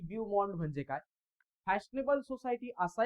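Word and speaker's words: beau monde: The film world is मेड अप ऑफ बिन मॉन्ड.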